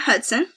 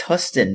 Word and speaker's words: Huston: So I'm not, so Matt Hudson. It's Huston, not Hudson.